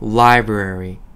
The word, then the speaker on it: library: 영어로 library. 에요. 자, 도서관이란 뜻이고요. 이게 발음이 조금 어려워요. 라이브러리라고 한국말로 하는데 영어로는요. library. R이 두 개나 들어가다 보니까 마치 혀가 없는 사람처럼 버터 발음을 해야 되는데 저랑 우선 발음부터 한번 따라해 볼게요.